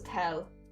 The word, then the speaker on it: tail: Tail is pronounced as tell.